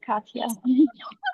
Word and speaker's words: Katya: Katya? Yes, you got it. It's Katya.